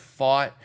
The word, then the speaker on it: Pfaadt: my uh OCS and it is pronounced fought as in I fought you odf a a d